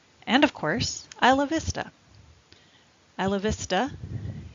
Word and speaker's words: Isla Vista: Isla Vista is Spanish, and so it's pronounced Isla Vista instead of being Isla Vista.